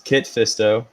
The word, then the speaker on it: Kit Fisto: So it's Kit Fisto, Yeah. Sassy Teen, or Saucy Teen, however you're gonna pronounce it, and then Agen Kolar.